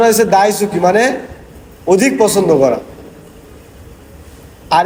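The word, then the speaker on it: 大好き: এই যে মার্ক করছি এটা না, এটার উচ্চারণ হয়েছে দাইসুকি মানে অধিক পছন্দ করা।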